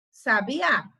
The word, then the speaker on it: sabiá: dizer que ele sabia quando nós temos o acento aí na última sílaba então vai ser um sabiá e na penúltima sílaba a gente vai saber que é uma pessoa sábia então tem esse aí